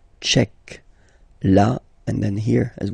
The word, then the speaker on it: tchèque: So remember, Q-U-E, K, tchèque. La, and then here as well, République. La République tchèque.